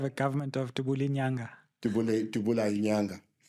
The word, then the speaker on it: Dubula Inyanga: Dubula Inyanga. You must say it properly. Yeah. In Fanagalo, the language that CNN speaks. In Zulu, it's Dubula Inyanga.